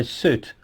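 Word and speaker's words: süt: actually milk okay so suit suit is milk all right sounds like soot from the chimney so super means with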